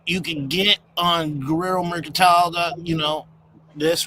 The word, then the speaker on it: Merkantile: It's It's spelled exactly like it's spelled Merc and tile.